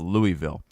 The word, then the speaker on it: Louisville: Simon Wilson said, not that one, the other one, said kind of like when people say Louisville instead of Louisville. It's Louisville. It is Louisville. That's how it's pronounced.